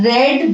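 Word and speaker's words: read: तब भी बताया था, रीड की 3 फॉर्म्स ऑफ वर्ब्स होती है, रीड, रेड, रेड, spelling same होते हैं, बोलने में डिफरेंट होता है, ठीक है।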